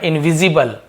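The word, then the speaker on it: invisible: का कंफर्टेबल सुखद आरामदायक इनविजिबल तो इबल बोल रहा हू ना इनविजिबल एबल नहीं बो इनविजिबल अदृश्य अंडरस्टेबल यह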